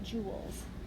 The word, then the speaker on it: joules: changed to units of joules like pronounced like the Royal jewels the abbreviation for joules